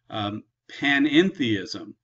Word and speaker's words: panentheism: Panentheism. It adds a little extra syllable in there about all in God.